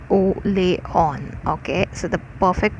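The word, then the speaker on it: Orléans: is this thing orleans it is a french word but it's pronounced as oh lay on okay so the perfect pronunciation of orleans is o leon okay so she was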